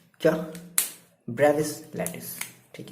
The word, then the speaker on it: Bravais: ब्रेविस lattice. ठीक है, क्या पढ़ोगे आप, जो भी आप इसका प्रोनाउंसिएशन कर लो, BRAVAIS, ब्रेविस। क्या पढ़ेंगे? ब्रेविस तो पढ़ेंगे, ब्रेविस, हाँ ठीक है, ब्रेविस लैटिस।